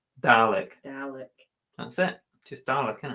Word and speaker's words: Dalek: you do to a cat how do you pronounce darlick dalek dalek that's it just darla can it this is